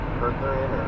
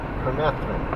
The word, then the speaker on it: permethrin: Perthrin or something like that. It's called permethrin. It does work too.